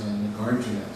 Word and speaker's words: Nagarjuna: So terms like Madhyamaka and Yogacara and things like that, I will, and words like Nagarjuna, which a lot of Westerners call Nagarjuna. So the pronunciation that Dan Lusthouse uses is Nagarjuna.